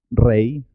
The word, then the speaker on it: rey: La Y también tiene dos sonidos. I suena como I cuando va sola en la sílaba, por ejemplo, ley, rey, Uruguay o la conjunción y.